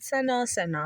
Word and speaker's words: Seno: hi how you guys doing and I am pronouncing it right right Seno yes it's right Seno same same thing and what does your name